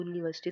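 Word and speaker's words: university: जब भी यूनिवर्सिटी की जो साउंड होती है ना जब यू बोलते हैं तो यू नहीं होती। वाई यू से स्टार्ट होती है यू यूनिवर्सिटी।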